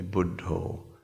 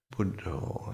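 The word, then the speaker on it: Buddho: Buddha just Buddha and in aai pronunciation they budo budo and you recite the Buddhist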